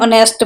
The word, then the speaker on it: honest: An honest person because h is silent cannot be used with plural or uncountable nouns.